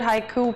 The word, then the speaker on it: haiku: So the word haiku, pronounced haiku, is derived from the Japanese word hoku, meaning starting verse.